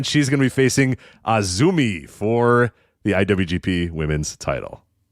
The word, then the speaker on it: AZM: Yes, it's spelled AZM, but it's Azumi.